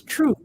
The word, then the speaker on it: Throop: There's a street in Chicago which is called it's Troop, but it's Throop.